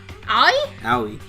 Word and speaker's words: Aoi: Fuck you, Ai! Just let one of the boys do it. Ai? Aoi.